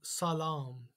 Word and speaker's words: salam: And when you see the double A together, it means it's a long A sound, as in apple, A. So salam.